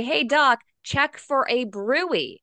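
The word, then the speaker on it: bruit: abdomen you say hey Doc check for a brewery it's spelled brute b rui t check for a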